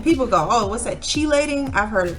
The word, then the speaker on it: chelating: And people go, oh, what's that, chelating? I've heard it pronounced all kinds of different ways.